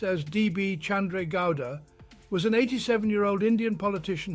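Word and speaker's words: D. B. Chandra Gowda: Chandra Gowda, pronounced as D.B. Chandra Gowda, was an 87-year-old Indian politician who recently passed away.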